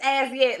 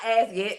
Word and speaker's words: Azyet: It's As Yet. Last night. I love this song. By who? It's by As Yet.